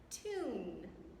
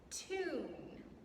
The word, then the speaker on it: tune: Tune. Tune. There are 2 vowels. So the first one says it's long sound, and the second one is silent.